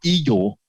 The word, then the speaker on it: IGEL: over here is my iGel lab, or Eagle, as it's pronounced in German.